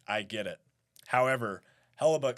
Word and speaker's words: Hellebuyck: That's Hellebuyck, I believe his name Yes, Connor Hellebuyck. Hellebuyck. And a lot of people were trying to pronounce his name after he finished that performance.